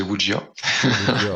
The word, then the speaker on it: wuxia: Alors dans le cri du mochi, j'ai appris que ça se prononçait Wujia.